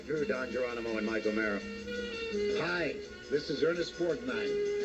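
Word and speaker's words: O'Meara: And Mike O'Mara, the name is spelled O-M-E-A-R-A, Mike O'Mara.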